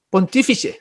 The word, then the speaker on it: Pontífice: Al emperador se le llamaba en Roma el Pontífice Máximo, Pontífice, así se pronuncia, y que se arrojó el Papa ese